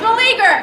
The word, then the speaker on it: Meleager: Don't mispronounce it. My name's Meleager. When I see that fleece, I'll go and Caesar. When it comes to battle, no one's more eager.